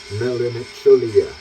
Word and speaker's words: Melancholie: you really want to, it's spelled Melancholy exactly like you expected, except there's an H after the C, and substitute an IE for the Y. Melancholie.